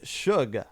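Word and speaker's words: $uge: did last month adding suge i believe is how that's pronounced s-u-g-e with the s being a dollar sign uh giving them five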